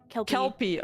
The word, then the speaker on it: Kelpie: How do I pronounce it? Kelpie.